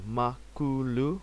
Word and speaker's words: Makulu: Linux project and uh makulu pronounced makulu which means uh Big